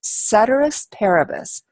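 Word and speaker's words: ceteris paribus: that we have here this is pronounced cedus parabus cedus Paris parabus means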